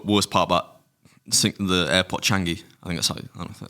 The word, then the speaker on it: Changi: That was the worst part about the airport Changi. I think that's how you pronounce it.